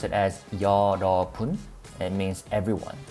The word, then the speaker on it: 여러분: We pronounce it as yeoreobun.